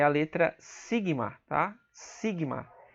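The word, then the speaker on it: σίγμα: E aqui você tem o sigma maiúsculo, tá? Sigma. Essa é a pronúncia dele. Você tem uma outra letra T no grego, tá?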